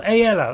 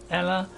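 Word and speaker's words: Aela: a lady huh a so aella that's how you pronounce it it's not a or Ella which is I called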